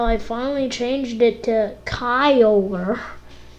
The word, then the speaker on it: Kyogre: But that's why I called it Kiagra. And I called it Kiagra for a really long time, actually. Though I finally changed it to Kyogre, how I You're supposed to pronounce it.